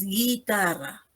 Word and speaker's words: guitarra: Nosotros ahí no pronunciamos la U, simplemente decimos guitarra, ¿no?